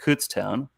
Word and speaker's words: Kutztown: He played at Kutztown. I believe that's how you say it, because that's how Stathead said it to me when we, I think during one of the podcasts, Mr.